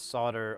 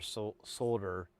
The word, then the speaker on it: solder: So, if it's it's solder or solder and I I I think technically you're supposed to pronounce the L, but I kind of I'd like to make the argument that it's like uh a bit of an English versus American pronunciation deal, like how some, you know, certain words are pronounced differently, like herb and herb, things like that.